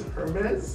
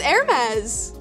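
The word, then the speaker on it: Hermès: Wait, you pronounce it as Hermes? It's Hermes. Is it Hermes? No! It's French. It is French.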